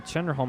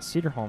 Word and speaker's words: Cedarholm: However, Chloe Chenderholm has done just that. Cedarholm, excuse me.